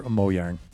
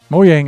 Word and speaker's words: Mojang: Mojang is correct pronunciation. See, I think it is, right? Scandinavian Germanic language, right? So the J's make the Y sound, right?